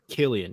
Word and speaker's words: Cillian: It's Kill, like Kill, then dash E Like E Killarney. dash En. Killian.